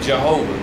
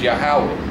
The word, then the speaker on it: Yahweh: People call him Yahweh or Jehovah. Those are incorrect pronunciations. The proper way to pronounce is Yahweh, okay?